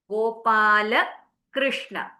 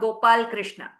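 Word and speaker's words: गोपालकृष्ण: This will be Gopala Krishna. Gopala Krishna, not Gopal Krishna.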